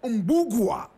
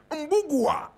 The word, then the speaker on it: Mbugua: and decided to call herself Wambui Wayaki Otieno Mbugua. You want to hear it again. Wambui Wayaki Otieno Mbugua. Wambui is spelled W-A-M-B-U-I.